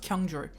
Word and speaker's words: Kyung-chul: Kyung-chul, it must be pronounced Kyung-chul. 'Cause there's no other way to say those syllables next to each other. Kyung-chul, Kyung-chul.